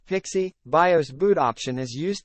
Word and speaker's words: PXE: radically explanation the reboot execution environment pxe but pronounced pixie bios boot option is used to install an